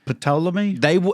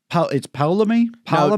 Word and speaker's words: Ptolemy: So like what it was Ptolemy?